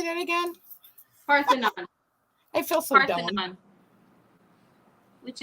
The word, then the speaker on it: Parthenon: Parthenon.